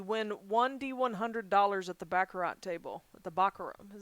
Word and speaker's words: baccarat: baccarat or baccarat i think i've always said baccarat but i'm also a midwesterner and they keep saying baccarat they don't even say the t at the end so i'm super not